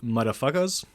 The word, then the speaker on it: Mutafukaz: It is the 2017 animated sci-fi action movie called Motherfuckers. It is a collab between a French and Japanese studios. I pronounce it like that because the title is Mutafukaz.